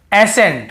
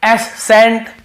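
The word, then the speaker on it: ascent: को नहीं पढ़ते हैं जैसे देखिए एसेंट हम क्या पढ़ रहे एसें यहां पे एस सेंट या एस कैंट ऐसे नहीं पढ़ रहे वैसे तो सी के साथ ई हो तो स उच्चारण निकलता है तो एसस नहीं पढ़ रहे हम केवल एस पढ़ रहे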